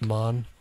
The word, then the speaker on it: Man: It's Yeah. pronounced Mon. He's Jamaican.